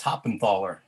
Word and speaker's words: Hoppenthaler: all right um john hoffelstein hoppin thaler uh karen jackson um and let's see emily jager so john you can correct my pronunciation of your name if you would like it's hoppenthaler the weather down here